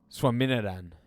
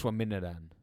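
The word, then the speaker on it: Swaminathan: You don't pronounce the H Oh. in my name. Swaminadan.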